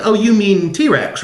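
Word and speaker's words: T. Rex: he doesn't know like the song by t-rex that he thinks is pronounced tricks cuz he's never actually heard it pronounced really talked to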